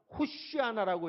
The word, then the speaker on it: 호산나: 질렀는데, 그때 뭐라고 질렀냐면 호시아나라고 해야 되는데 호시아라고 하는 히브리어는 잃어버렸고 비슷한 아람어 호산나라고 하는 말은 알았기 때문에 호산나 이렇게 외쳤던 거예요. 발음 그대로 하면 히브리어로 하면 호시아나 해야 되는 것을 그렇게 못하고 그냥 아람어로 호산나 이렇게 외쳤던 거예요.